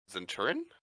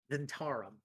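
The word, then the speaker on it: Zhentarim: I can't even pronounce it. Zenturin? Zentarum.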